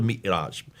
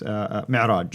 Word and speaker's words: Mi'raj: But that's where called the Mi'raj. How do you Mi'raj, pronounce yes. it? Yes, Mi'raj.